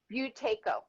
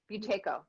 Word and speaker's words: Buteyko: it how do you say boutique protector potico buteyko buteyko he's a russian physician who came up with